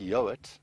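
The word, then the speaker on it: Yeowart: interesting surname which is pronounced yoit but it's spelled y e o w a r t and as far as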